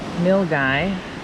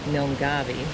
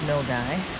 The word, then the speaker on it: Milngavie: We are in Milgy, which is spelled like Milgabi, but it's Milgy.